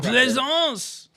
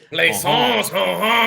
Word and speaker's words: Plaisance: Plaisance is the like Renaissance. Plaisance. Plaisance.